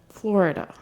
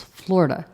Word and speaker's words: Florida: name all this time Florida so I was told it's two syllables Florida Florida I've always said